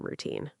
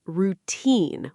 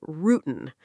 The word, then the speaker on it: routine: It's routine with the stress on the second part. Some learners say routine, and the spelling is tricky.